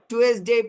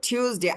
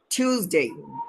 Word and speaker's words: Tuesday: স্যাটারডে শেষে এ ওয়াই থাকলে এই উচ্চারণ হয়, স্যাটারডে। সানডে, Saturday, মান Saturday. ডে। আমরা টুয়েসডে পড়েছি, আসলে হচ্ছে টিউসডে। আমিও ভুল পড়েছি জীবনে বড় একটা অংশ, যে এটা ভালো উচ্চারণ হচ্ছে টিউসডে, টিউসডে।